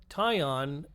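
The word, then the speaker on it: Tyon: And there was some basketball news this week, Jesse, with the um the commitment of a basketball player, Tyion Grant Foster.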